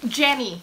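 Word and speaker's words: Yany: Jenny Stitcher. If you're not watching her, you need to be watching her. It's spelled Y-A-N-Y Stitcher.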